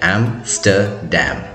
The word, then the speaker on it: Amsterdam: क्योंकि ये एक डैम है जो कि रिवर एम्स्टल पे बना हुआ है और इसका जो सही प्रोनाउंसिएशन है वो है एम्स्टर्डम।